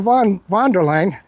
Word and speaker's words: von der Leyen: Oh, Ursula von der Leyen. Yeah, that's how you pronounce it.